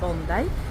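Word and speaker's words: Bondi: bondy to się pisze Nie wiem jak się wymawia pani przewodniczka mówi że to jest bondai właśnie nazwa aborygeńska i to jest jedna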